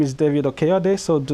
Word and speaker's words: Okeyode: So my name is David Okeyode, so do not feel any pressure to pronounce my last name. I've heard it pronounced as Okidoki, Okidoi.